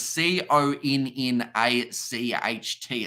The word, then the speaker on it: Connacht: I can't even pronounce that name. Connacht, is it? Connacht. So pretty much it is Connacht. It's a bit of a weird spelling one.